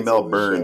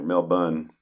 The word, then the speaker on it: Melbourne: if you say Melbourne, they know you're an outsider. Melbourne is you're a local, or at least you know how it's pronounced.